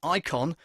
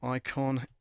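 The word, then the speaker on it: Eikon: now is this one which is the icon it's spelt e i k o n e i k o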